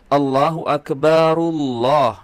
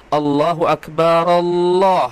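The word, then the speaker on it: الله أكبر الله: Maka kalau dilanjutkan di wasal ya cara membacanya adalah Allahu Akbarullah ya. Allahu Akbarullah. Bukan seperti Hanifah Latos Allahu Akbar Allah teman-teman ya.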